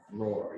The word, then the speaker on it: Rohr: his name's uh andrew rohr and uh i was gonna i was afraid i was gonna pronounce the last thing no it's all right roar you know like rory yeah he uh he